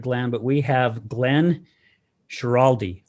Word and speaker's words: Schiraldi: But we have Glenn Schiraldi, right?